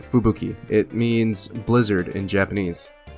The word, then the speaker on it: Fubuki: That's how you say it, Fubuki.